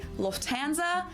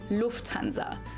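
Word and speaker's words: Lufthansa: In English, people usually say Lufanza, but in German, we say Lufanza. So, the emphasis on the first syllable, Lufanza versus Luanza.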